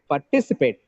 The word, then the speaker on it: participate: would love to participate participate here the second syllable is stress okay this is all